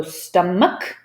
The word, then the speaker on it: stomach: So look, this is the stress, stum. Then you know the CH is a K, so stomach, ache, echo, chaos, archive.